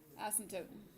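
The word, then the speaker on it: asymptote: the x- axis and here's the word asot that's a silent P just to make things difficult ASM toote okay so exponential has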